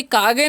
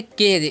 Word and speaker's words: cage: Next word है हमारा CAGE, तो इसे कागे नहीं पढ़ना है, इसे पढ़ना है केज। ए का उच्चारण ए करना है, और जी रहता है तो आपको पता होना चाहिए उसका उच्चारण ज हो जाता है।